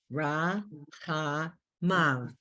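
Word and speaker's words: רַחֲמָיו: And then the Yud Vav is pronounced av, ra, cha, mem, and the ah vowel, ma, Na. ra, cha, mav.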